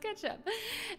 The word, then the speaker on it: k3sup: It's pronounced ketchup.